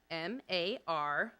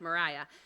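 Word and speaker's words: Maryah: For those of you that don't know, Mariah spells her name M-A-R-Y-A-H. I would often tease her during class about her name being pronounced Mary Ah instead of Mariah.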